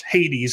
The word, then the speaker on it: Hades: those words is the greek noun hades which we pronounce hades in in the english this is the new